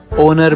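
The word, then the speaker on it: honour: Ma'am जैसे H letter, ओनर में, आर में, ओनेस्ट में। नहीं बेटा, इनको हम इग्नोर नहीं साइलेंट कंसीडर करते हैं।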